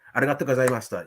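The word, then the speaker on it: ありがとうございました: Arigato gozaimashita.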